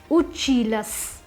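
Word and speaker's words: учились: So the pronunciation of the feminine form would be uchilas. Masculine form is the feminine form is uchilas.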